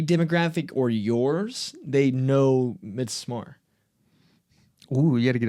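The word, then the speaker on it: Midsommar: But but you're right because Ari, which who made it, that's the only thing that matters. He calls it Misamar.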